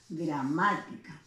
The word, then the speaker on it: gramática: ¿Cuál es la sílaba en gramática que lleva la mayor intensidad? Grama, ¿no? Si yo cuento de atrás hacia adelante, perdón, esta sería la última, la penúltima, la antepenúltima sílaba. Por lo tanto, es una palabra esdrújula o paroxítona, ¿no?